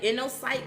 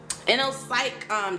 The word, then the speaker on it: InnoPsych: So Inno, like internet, but Inno, like Inno, I-N-N-O, Psych.